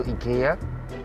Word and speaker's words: IKEA: uncle then going to ikea taxi uncles actually pronounce it quite like the swedish which is ikea so